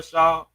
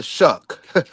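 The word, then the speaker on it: Shough: Y'all trying to tell me Tyler Shaw or did I say his name right? Tyler Sh. Tyler Tyler Shuck. Tyler Shuck. Okay. Tyler Shuck, excuse me.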